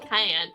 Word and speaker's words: Kyan: Well, have you tried looking under pronounced like it's the pepper?